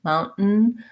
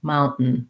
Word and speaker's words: mountain: one is a stop t mount so we don't really say it we just do a very short end and then another short end so i'm going to close off with the t mount mountain but i'm just going to keep my tongue in that end position and make a little break between them mountain mountain if there's any vowel in there it's a little bit of a schwa sound the spelling is pretty